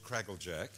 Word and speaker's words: Kraguljac: from a yet again well if you're Aussie it's crackle Jack and if you're not